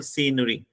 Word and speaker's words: scenery: And at the end of the second line, there's the word scenery. So how many syllables are there? आप बोल के देख लो. C के बाद आप रुक रहे हो, न के बाद आप रुक रहे हो. There are 3 syllables. Scenery.